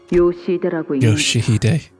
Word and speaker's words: Yoshihide: Yoshihide.